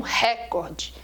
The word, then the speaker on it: recorde: é outra palavra perigosa o pessoal fala é um recorde foi um recorde a palavra não é proparoxítonas ela fosse proparoxítona teriam assento a palavra é recorde ela é uma paróquia